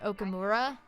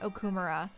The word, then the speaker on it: Okumura: correctly like um so one of the major antagonists is this guy named okumura but the whole game they pronounced okumura that's like that's not how you pronounce japanese last names the because the problem